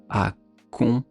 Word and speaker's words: accompagner: Accompagner. Ñ. À la fin, ça s'écrit G-N-E-R.